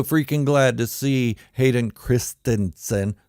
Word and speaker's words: Christensen: glad to see Hayden Christensen that's how it's pronounced Christensen not Christensen back in Star Wars